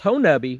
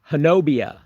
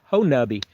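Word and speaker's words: Honobia: Las Vegas wow yeah punching but hubbi it's pronounced hubbi but it's spelled ho n o b i a that's a Native American uh name hobia is is the way it s looks like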